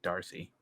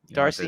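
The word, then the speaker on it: D'Arcy: I think it's just Darcy Darcy yeah but you don't have to pronounce the apostrophe yeah but I think it's pronounced Darcy okay well I'll go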